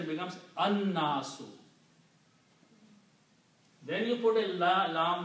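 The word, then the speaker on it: النَّاسُ: But noon is a shamsi letter, so it gives the sound of lam and pronounced annasu, the pupil.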